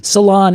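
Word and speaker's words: Ceylon: That particular species is the salon ebony and that's salon is in Sri Lanka which is spelled c e y l o n.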